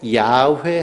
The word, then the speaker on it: 야훼: 이 여호와라는 말은요, 야훼라는 발음이, 이 독일 사람들이 성경을 번역하면서요, 야훼 발음이 안 돼서 야훼 비슷하게 하다 보니까 여호와라고 이렇게 발음한 겁니다. 그러니까 출애굽기에 나와 있는 하나님의 이름 원어는 야훼입니다.